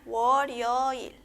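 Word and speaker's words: 월요일: En este caso, en la primera sílaba tenemos la consonante riul, ¿verdad? Que suena como L. En este caso vamos a unir junto a la siguiente vocal que es yo, ¿sí? Entonces sería woryoil, ¿sí?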